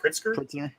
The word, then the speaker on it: Pritzker: governor JB Prince how do you say that pritzker Ames to ban AR-15s AR-15s are not assault